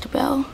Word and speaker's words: Debelle: called Madame Debbell's um which is a change of pronunciation of her surname Debble. So, I said speech the bell. Speech to bell.